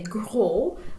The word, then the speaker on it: gros: little bit different so if we're referring to a male we would say grow but to female it's gross timid extraverte mead stays the